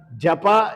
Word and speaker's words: japa: Without knowing the meaning of this japa, many people say, मैं जाप कर रहा हूं. ये जाप क्या होता है? ये सब अज्ञान का शब्द है. This is absurd. It should not be pronounced as jap.